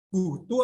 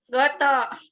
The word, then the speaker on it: GoTo: Itu bacanya apa ya? Gutu apa Goto? Enaknya apa Tanti bacanya? Goto. Goto.